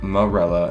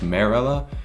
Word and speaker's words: Marella: I always thought Morella was pronounced Morella until I read Unlocked. Apparently it's pronounced Marella, and I'm like, no way, Jose, I'm sticking to mine.